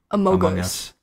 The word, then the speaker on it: Among Us: I played Amongst Us, too. It's not Amongst. It's Among. Among Us. Among Us. That's how you say it.